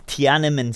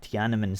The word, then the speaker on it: Tiananmen: It's Tiananmen Square. Tiananmen Square. That's it. Just like that is very iconic and has made its way like everywhere.